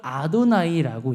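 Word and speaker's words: יהוה: 이 유대인들은 어떻게 읽냐? 이걸 아도나이라고 읽어요. 나의 주라고 읽어요. 이름이 이게 발음이 없어요. 원래는 발음이 없는데 그냥 아도나이라고 부릅니다.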